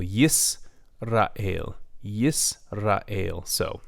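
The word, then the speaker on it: ישראל: also with the choise a single schwa in the middle of a word is generally silent it also marks the end of a syllable yes Rahil yes a la ale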